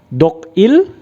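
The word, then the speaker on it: 독일: Berikutnya ada negara Jerman, bahasa Koreanya adalah Dogil ya. Dibacanya adalah Dogil, maka menjadi Dogil Gayo. Tapi karena L-nya tidak dibacakan L, maka menjadi Dogire Gayo ya.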